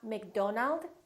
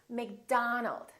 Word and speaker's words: McDonald: Make sure that you don't say O. It's not Robert, it's Robert. It's not McDonald, it's McDonald. All right, let's practice.